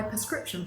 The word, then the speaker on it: prescription: most pharmacies is prescription it has become common in the uk to put a per sound at the beginning instead of a pr sound so to sound better